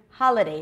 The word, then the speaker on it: holiday: congratulations going back to Holiday the ha is the primary stress the day I'm going